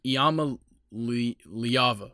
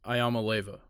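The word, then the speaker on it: Iamaleava: other day um Nico it's iama liyava or Leva it's not ayama Leva yeah I'm not even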